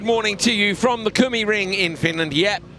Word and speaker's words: Kymiring: Yeah, he came past on his little scooter and he said, it's Kymiring. He said, there's a river nearby, Kymi something.